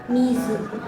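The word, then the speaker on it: 水: Kalau Kun Yomi tidak ada temannya, tidak ada kanji lain seperti ini, maka dibacanya miz mizu.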